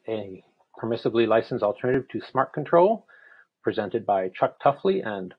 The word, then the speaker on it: smartctl: fired for using them, smart control, part of the smart mon tools project, some pronounce it smart cuddle, some spell it out smartctl, but I'll try to be consistent.